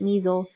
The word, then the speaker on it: MSEL: master sequence events lists we just pronounce it Meisel so you'll hear us